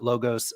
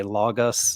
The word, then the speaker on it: logos: logos and and so I I pronounce it logos this is a it's the European pronunciation of uh um where I think my some of my American compatriots might say logus or something I I I've never